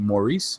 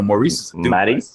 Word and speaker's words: Maryse: And ever since they put him together with his wife, Maryse, how do you say her name? Is it Maryse? Maryse? No, Maryse. Maryse. Maryse. Oh, she is French.